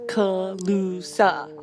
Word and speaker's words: Calusa: that oh let me tell you colusa is pronounced colusa sometimes you'll see it spelled colusa instead the